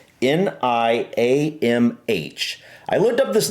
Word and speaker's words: Niamh: At least that's how I think it's pronounced. Niamh.